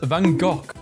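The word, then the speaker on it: Van Gogh: suu hey American saying van go is pronounced Vango British saying it's pronounced vanov it's a Dutch name and Dutch pronounce it as vanok meta is threatening to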